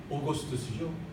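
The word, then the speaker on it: Augustus: 로마 황제 아우구스투스가, 여기는 아구스트라고 나와 있고 영어 발음은 오거스투스죠.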